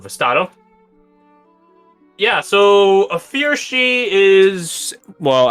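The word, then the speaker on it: sidhe: Yeah, so a fear she is, well, as the name implies, it's a she, S-I-D-H.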